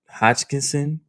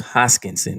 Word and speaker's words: Hoskinson: of the the founder charles hodgkinson charles hoskinson let me pull up i put it in my notes charles hoskinson is how you pronounce it and he was